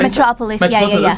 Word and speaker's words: Metropolis: So what's so different about Abbey Road Studios and the Metropolis Studios? What was different about those ones? Because I don't know much about the Metropolis. Is it Metropolis? Is that Metropolis, yeah.